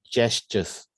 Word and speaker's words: gestures: it's not gaster because when you put the g e s together it's actually pronounced as a j instead of a g so it's just just gestures i heard of uh